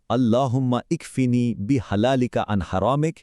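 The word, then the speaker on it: اللهم اكفني بحلالك عن حرامك: আল্লাহুম্মাফিনি বিহালালিকা আন হারামিক এর উচ্চারণটা হলো আল্লাহুম্মা ইকফিনি বি হালালিকা আন হারামিক এই দোয়ার অর্থটা খুব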